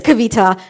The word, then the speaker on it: Kavita: no you know what my name is Kavita this is how you say it ask me a million